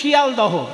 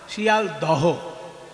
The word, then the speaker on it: শিয়ালদহ: এই যে শিয়ালদহ নাম শুনেছেন তো, শিয়ালদা স্টেশন, শিয়ালদা স্টেশন পুরো নামটা কি? শিয়ালদা তো নয়, শিয়ালদহ।